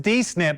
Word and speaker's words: D-SNP: Well, Marian, you've already taught me something that the acronym is pronounced DNIP.